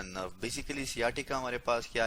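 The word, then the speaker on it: sciatica: आज हम पढ़ेंगे सियाटिका के बारे में, ठीक है जी। और कुछ लोग इसे शियाटिका भी प्रोनाउंसिएट करते हैं।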